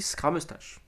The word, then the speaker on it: Scramustache: On dit Scramustache. Prononcez-le bien.